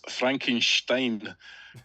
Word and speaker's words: Frankenstein: H Frederick it's pronounce Frankenstein St or SP is often pronounced with a sh sound in German Frederick's now lecturing us